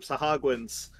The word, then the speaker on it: Sahuagin: we were fighting some Sahagwans, which is, I think, the correct pronunciation that it is.